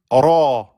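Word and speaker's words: ر: C'est un peu c'est un peu le le R espagnol, hein. Ro ro. Donc le Ro, il se prononce à l'infinitif ro.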